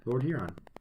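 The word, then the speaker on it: Lord Huron: say Lord here on Lord here on like here you're on like the light okay thank you Atlee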